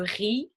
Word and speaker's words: riz: Donc Z est généralement une lettre donc muette. So the Z is going to be usually muted, comme le riz, rice, et les mots qui se terminent par EZ qu'on prononce E.